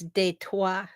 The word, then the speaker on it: Detroit: Yep, like Detroit. Yeah. Did you know actually that's French? And did you know Detroit. actually it's de toi?